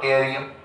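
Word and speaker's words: Yttrium: 39 टेरियम no doubt any शुरुआत वाई थी type पर वाई साइलेंट है तो टेरियम 40 जिरकोनियम 41 नियोबियम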